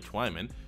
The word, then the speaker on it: Twyman: from Pitt Jalen swimming Twyman Twyman sounds a lot better I've heard it pronounced both ways but it's definitely Twyman 75 hit in dev